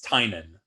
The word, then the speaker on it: Tynion: So first of all, how the hell do you pronounce your name? It's Tynan.